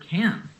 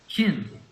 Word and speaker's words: can: is reducing the verb can. When we do this, rather than saying a long A sound, can, we reduce it to a short I sound, kin.